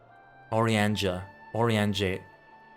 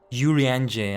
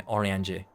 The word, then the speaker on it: Uriange: Oriange. Kind of French in pronunciation. Oriange. Uriange. I think that works too, but yeah, Oriange.